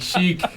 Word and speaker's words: chic: Che up all right I I Googled it here it is Chic that he meant to say oh she na'vi like Chic like smart I thought he was